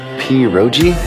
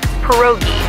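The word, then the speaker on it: pierogi: Peroi. Did I pronounce that right? It's pronounced perogi. A tasty dish like dumplings.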